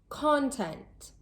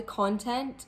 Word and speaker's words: content: Did you notice that the word stress was placed on a different part of the word each time?